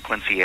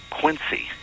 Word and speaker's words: Quincy: I always understood you pronounced the C in Quincy as more like a Z, as in Quincy.